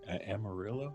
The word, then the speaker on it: Amarillo: I think Amarillo. Yeah, that's how you say it.